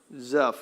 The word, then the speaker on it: Zuph: And when they came to the land of Zuph or Zuuf, I don't know the best way to say that. Uh Don, how would you say that? Zuph, okay. So, I said it right.